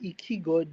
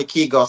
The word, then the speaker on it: Keigo: And he was able to sorry to sorry but is it Simon Ikigo the drone pilot the professional drone pilot? Yes. Yes. It's Simon Keigo. Sorry I got the name the last name wrong and I I